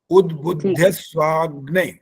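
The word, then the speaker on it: उद्बुध्यस्वाग्ने: पहला सबसे पहले उद, ठीक है, द हलंत है ना, उद, आगे बुद्ध, आ गया तो बुद्ध, आगे स्वाग्ने। अब इकट्ठा बोल सकते हैं उद्बुद्ध स्वाग्ने।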